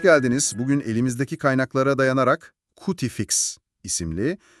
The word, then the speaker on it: Cutifix: Bugün elimizdeki kaynaklara dayanarak Cutifix isimli evet cutifix olarak telaffuz ediliyor.